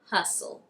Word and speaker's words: hustle: If you see a word that ends in stle, it would be right to assume that the T is silent.